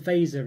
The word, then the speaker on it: Fazer: I'll probably try and call them Fatser from now on in, because I believe that's the way it's pronounced, although, obviously, one of those where I'm so so used to calling them Fazer, really, but yeah, I could be completely wrong. Maybe it's not even Fatser.